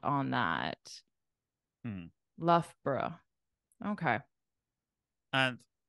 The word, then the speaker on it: Loughborough: okay what is it it's actually the Loughborough Loughborough bro I here it's three syllables but I would probably say two I'd probably say Loughborough Loughborough Loughborough yeah okay